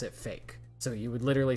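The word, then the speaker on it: PHEIC: the new pandemic uh spelled p h e i c and pronounced fake you pronounce it fake so you would literally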